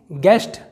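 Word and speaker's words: guest: अगला एग्जाम्पल देखते हैं, गेस्ट। इसका मतलब होता है अतिथि, यहाँ पर यू साइलेंट है।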